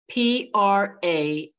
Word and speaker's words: Pragya: Pragya.